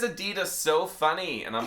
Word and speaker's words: Adidas: He says Adidas so funny. And I'm like, it's not Adidas. His name is Adidasler.